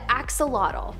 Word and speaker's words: axolotl: Coming up at our number 8 spot, we have the axolotl. There is much speculation as to how to pronounce the name of this creature, but for the most part, most people believe that it is axolotl.